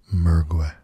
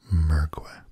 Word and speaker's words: Mergui: But the 3rd video was done by someone who I perceived to be native to the area, and her pronunciation was Mergui, with a very soft approach to the 2nd syllable.